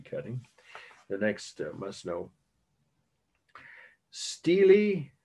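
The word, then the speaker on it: stele: Steely, or some would say Stella, but that sounds like a character from Streetcar Named Desire, but that play, some of you may know, or the movie version. Spelled the same way as the woman's first name, S-T-E-L-A. Steely is how it's pronounced, of Hammurabi.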